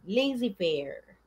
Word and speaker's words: laissez-faire: Laissez-faire. Parang iisipin mo, ano yan? it is a French word, okay?